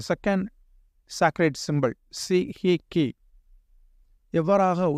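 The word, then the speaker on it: Sei He Ki: இந்த இரண்டாவது புனித சின்னம் தி second சாக்ரேட் symbol C ஹி கி எவ்வாறாக உச்சரிக்கப்பட வேண்டுமென்றால் சே ஹை கி என்று உச்சரிக்கப்பட வேண்டும்.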